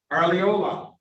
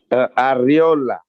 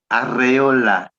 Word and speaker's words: Arreola: No, give it to me right. Arriola. You gotta roll your R. R. Arreola. Yes, sir. That exactly like that.